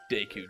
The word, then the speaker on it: Deku: And that's spelled D-O-K-U? Right? Did I get that right? Deku, D-E-K-U.